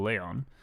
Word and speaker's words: Leon: Like, if you space out my name, it does not become like Leon. It's still Leon.